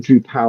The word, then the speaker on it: Drupal: I think I've said Drupal like then like with the EU and I' I've heard Drew Pal a lot.